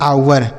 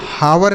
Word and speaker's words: hour: आगे लिखा है HOUR, इसे पढ़ते हैं आवर। HOUR, इसे हावर नहीं पढ़ेंगे बच्चों। यहाँ पे जो एच है ना, यह साइलेंट है, मतलब इसे नहीं पढ़ा जाएगा। इसे पढ़ेंगे आवर।